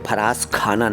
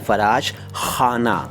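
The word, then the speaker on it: फ़राशख़ाना: याद दिला रहा हूं यह फराज खाना नहीं है फराज खाना नहीं है फराश खाना नहीं है यह है फराश खाना ठीक है अच्छा वो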